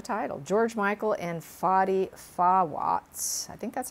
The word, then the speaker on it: Fawaz: saw from the title george michael and foddy fawats i think that's how you pronounce it f-a-w-a-z fawaz he dated him from for four years